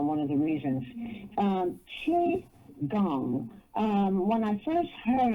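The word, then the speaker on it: qigong: uh for mind body and spirit and it's pronounced CH gong CH h e e gong but it's it's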